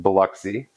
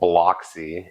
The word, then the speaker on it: Biloxi: uh outside of the southeast uh it is pronounced Biloxi even though uh pretty commonly here called bloxy and I would imagine that uh pole himself